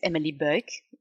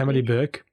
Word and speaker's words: Emely Buyck: Uh, my name is Emily Burke. Pronounce it again, Jerry. You did it so wonderfully. Emily Burke.